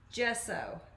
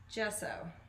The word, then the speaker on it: gesso: my regulars know this gesso that's how you say it okay gesso gotcha thanks vicky k